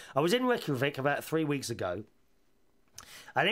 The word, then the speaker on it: Reykjavik: ash thank you robert says i was in reykjavik about three weeks ago is that how you